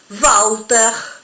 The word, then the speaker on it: Walter: La W, por ejemplo, con la que escribimos el nombre Walter, se va a pronunciar como nuestra B corta. Por eso el nombre va a ser Walter.